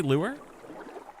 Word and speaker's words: lure: I've been saying them both the same. So there's it's not just lore and lore. It's lore and lure.